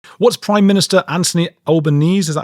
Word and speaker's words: Albanese: What's Prime Minister Anthony Albanese? Is that how you say his name? Right. Albanese. Okay. Albanese.